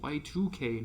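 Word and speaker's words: YIIK: don't worry um i everyone else calls it yik because it's the two is roman numerals yeah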